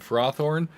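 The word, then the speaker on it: Ferrothorn: And if anyone is cringing at how I pronounced Ferocity and Frothorn, believe it or not, those are the official English pronunciations per the Pokemon Company. Obviously, to an English speaker, you would think Pharaoh because of ferrous for iron, but nope, it's more like ferocious.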